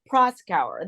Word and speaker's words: Proskauer: put the emphasis on the Proskauer. The cower is kind of after, you know.